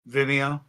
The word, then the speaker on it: Vimeo: Vimeo.